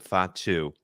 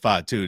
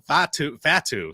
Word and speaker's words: Fatu: know some about Jacob Fatu to be honest I mispronounced his name when we originally talk about him uh call him fat Fatu so like That's how